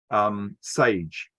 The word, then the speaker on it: Sage: I think you pronounce the name of the band as, it doesn't say it on there actually, but Sage, to rhyme with beige.